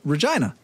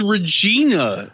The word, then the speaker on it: Regina: half hours north of Regina it's Regina no rhymes with vagina China when I went